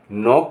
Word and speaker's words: knock: अब जहाँ के साइलेंट होगा वहाँ मैं बताता हूँ। KNIFE यहाँ इसको कहेंगे नाइफ माने चाकू। KNOCK नॉक माने खटखटाना।